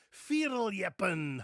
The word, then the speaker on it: fierljeppen: Today I'm going to introduce you to one of my favorite sports, firin. Hi, I'm and I pronounce Dutch words and names the way a Dutchman would pronounce them.